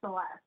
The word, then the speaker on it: Celeste: all the time um usually when you're speaking spanish to me you will call me celeste if you're speaking english it will say celeste and uh but you